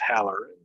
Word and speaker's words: Hallerin: for life it's uh my name is pronounced hallerin but in the south some people like to call it hollering so let's just pretend